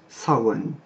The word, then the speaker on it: Samhain: fait du gaélique irlandais moderne et qui se prononce sans wang ensuite on passe à jules qui lui aussi